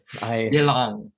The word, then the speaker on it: Yelang: I keep trying to do it with the tones just to practice it. Yelang. Yeah. Okay.